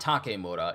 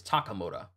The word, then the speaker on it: Takamura: a minute days 164 takamura it's not takura it's takamura so I was saying it right initially I don't know where